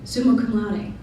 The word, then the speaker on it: summa cum laude: I was going to graduate summa cum laude. That's how you pronounce it, by the way.